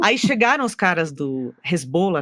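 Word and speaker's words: Hezbollah: Aí chegaram os caras do Resbola, na verdade é jeito certo de falar do Resbola para falar e tinha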